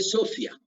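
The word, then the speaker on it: σοφία: En el Nuevo Testamento la palabra sabiduría se escribe Sophia, pero se lee Sofía. O sea, PH, Sophia, pero se lee Sofía, como Sofía, pero PH.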